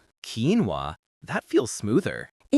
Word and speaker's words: quinoa: Quinoa. Quinoa.